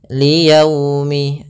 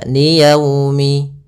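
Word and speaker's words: ليوم: Dalam pelafalannya harus lembut. Li yaumi, agar menyempurnakan makhraj huruf waw, kita agak monyongkan bibir kita. Li yaumi, ya dilembutkan yaumi.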